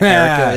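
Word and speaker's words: Aracha: is erica sores and erica is spelled like araka a-r-a-c-h-a and sores is spelled like soros like uh-huh yeah she's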